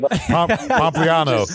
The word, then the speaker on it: Pompliano: I noticed you didn't even try to pronounce the last I'm not going to try it. Pompliano.